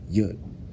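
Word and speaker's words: יוד: a semicolon, and in hindsight, what the actual pronunciation is, Yud, disclosed to be said from Jews as the power of God only, in the Hebrew lettering system.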